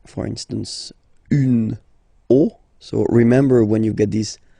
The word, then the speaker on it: os: then it will be, the rule is that you get to put X here at the end, but then same rule, you don't pronounce it. Des os, okay?